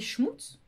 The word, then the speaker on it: schmutz: Des schmutz? Schmutz? Oui, c'est ça pour la prononciation d'Alsace.